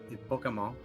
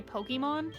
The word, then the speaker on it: Pokémon: say pokemon or pokemon it's just americanized because that's how the word works in english for the roots because bokeh we basically copy what's in japanese but mon they pronounce monster a little bit different than us i guess because o's work different in japanese well that's everything we